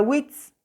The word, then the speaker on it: witz: La palabra witz, witz. La I también se pronuncia muy simple.